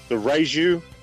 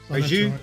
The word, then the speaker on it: Raiju: Yeah, so it was the Raiju and the Rayon. Raiju, Rayon.